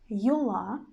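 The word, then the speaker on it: юла: word yula yula yula you see the stress is under arm but our letter stands in the very beginning of the word that's why no matter that it's not under the stress we will pronounce it quite clearly but a little bit shorter than stressed one yula yula yola you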